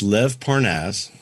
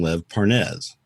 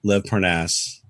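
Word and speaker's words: Lev Parnas: question who is this Lynn parv person it's Lev parnaz okay now we found out here's the fun part we found out that Lev paras's name is pronounced that way okay everybody had been calling him L Parnes okay because that's way you kind of you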